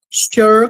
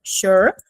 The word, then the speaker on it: sure: do verbo e tal, a pronúncia é sempre igual para sure, de certeza. Vou até colocar também a pronúncia aqui, que é um sure, como se fosse com X, sure.